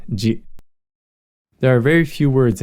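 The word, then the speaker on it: ぢ: Chi with the dakden is pronounced ji. Note that chi with the dakden is pronounced the same as shi with the dakden, ji.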